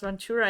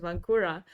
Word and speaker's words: Ventura: yeah Ventura that Ventura I didn't know his first pronounce Ventura I thought it was vancura and I always said vancura and anyways I learned